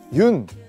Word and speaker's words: 윤: 여기 보시면 흙이 있는데요 많은 분들이 아마 그 윤 이제 윤이라고 읽거든요 연이라고 읽으실 수도 있고 뭐 여러가지 방법으로 화백 님의 성입니다 그래서 외국에서는 윤이라고 많이